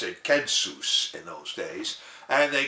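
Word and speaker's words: κῆνσος: Latin word that we pronounce census today they pronounce it kensus in those days and they call it the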